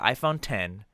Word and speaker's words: iPhone X: just as wrong as people who say Reese's because it's the iPhone 10 its Reese's its Reese's